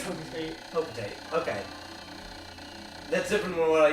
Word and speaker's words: Hocotate: how is it pronounced is it hocotate or hotate I think it's hocotate hocotate okay that's different